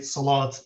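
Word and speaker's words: صلاة: So taking this example of these words we very often say salat these days with the final T, but the salah, proper classical salah. Arabic pronunciation is salah.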